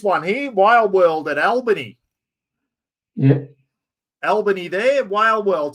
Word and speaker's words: Albany: y but in Western Australia the town is pronounced Albany Lauren got nailed by an inch ant they're